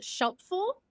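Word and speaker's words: Shelfful: have a company called Shel full it rhymes with helpful and we make a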